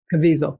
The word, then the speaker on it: Caviezel: I can't pronounce his name correctly. Anyway, another Caviezel. rabbit. Caviezel.